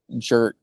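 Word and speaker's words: Jurt: His name's Jer. Jer and it's pronounced like Jer.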